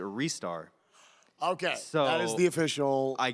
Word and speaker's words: Ristar: so as I mentioned there's a guy who asked a bunch of Sega employees how you pronounce wrists are they said ristar restar and wrists are so there is no correct answer but in Japan it is a restar okay so the official